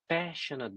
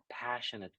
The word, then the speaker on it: passionate: is about to be pronounced like not passionate but passionate, like apple, right? Apple, passionate.